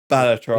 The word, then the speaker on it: Balatro: Balatro.